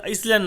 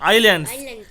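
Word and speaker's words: island: ball Andaman এন্ড Nicobar আইল্যান্ড উচ্চারণটা ইসল্যান্ড নয় আইল্যান্ড Andaman Nicobar আইল্যান্ডস এর যে ক্যাপিটাল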